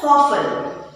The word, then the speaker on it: soften: T is silent, so you pronounce it as soften.